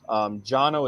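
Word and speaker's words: Cano: Jono is how you pronounce it, but it's spelled C-A-N-O.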